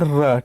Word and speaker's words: र: और ये एक ही है, केवल और केवल र। ठीक है, र देखिएगा, इस पर टच डायरेक्ट नहीं होता, जब र का उच्चारण करेंगे तो जीभ जो है प्रकंपित होती है।